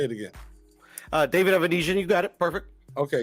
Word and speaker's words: Avanesyan: say it right say it again uh David evanesian you got it perfect okay because they've been